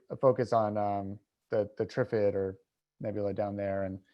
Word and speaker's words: Trifid: opinions in the truth some people say tri-fit i say triffid after like the day of the trifids anywho um back on